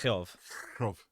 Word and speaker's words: Jove: We progress forward, and it's definitely pronounced Jove. Yeah, with what is it? The Dutch J.